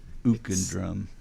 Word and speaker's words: Uke & Drum: I just realized I've been pronouncing your band name wrong all along because I'm the guy that says Uke. I figured it was, but you set me straight here quickly that it's Ook and Drum.